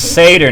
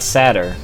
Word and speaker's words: satyr: it's Phil it's Saints pronounced Seder not sadder please uh please excuse